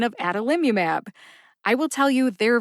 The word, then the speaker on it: adalimumab: of generic Humera is adalimumab Ada Lim umab has five syllables a as in day da like dungeon Lim like limit U like ukulele and mab which rhymes with jab as in Rocky Balboa